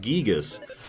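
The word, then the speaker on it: Giygas: verify a few things it is supposed to be pronounced gigas I am never gonna say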